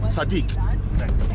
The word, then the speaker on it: صديق: Sadiq.